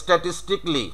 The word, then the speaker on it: statistically: হ্যাঁ পরিসংখ্যানগতভাবে, তাহলে স্ট্যাটিস্টিকলি।